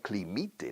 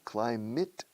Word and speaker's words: climate: Suena climite, ¿no? Climate. No, se escribe climate. Climate, but we say climate.